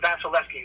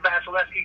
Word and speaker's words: Vasilevskiy: uh andrei vasilevsky that's that's i'm going to pronounce his name robert he's a terrific guy but vasilevskiy who's the um the goalie for the tampa